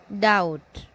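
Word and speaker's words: doubt: Depp नहीं date B नहीं पढ़ा जाएगा बी साइलेंट है इसमें डाउट डी यू डी ओ यू बी टी है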